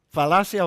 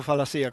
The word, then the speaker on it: falacia: ¿Falacia o falacía? ¿Cómo se dice? Falacia, thank you.